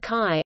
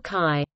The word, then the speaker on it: CHI: referred to by its short name CHI, pronounced CHI, or CHI.